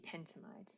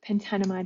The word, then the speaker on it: pentanamide: our molecule would be pentanoid or pentanamide however you want to pronounce it pentanamide is probably the most correct way of saying it so just as